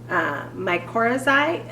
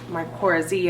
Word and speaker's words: mycorrhizae: Mycorrhizae, I believe is how you pronounce it. I heard it mycorrhizae and mycorrhizae.